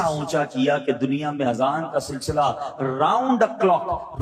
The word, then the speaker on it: اذان: بعض لوگ آذان کہتے ہیں، یاد رہے پہلے اذان کہتے کس طرح ہے، اس کا تلفظ سے بچ لیں. آذان اذن کی جمع ہے، اذن کہتے کان کو. یہ آذان نہیں ہے، یہ لفظ اذان ہے، ٹھیک ہے.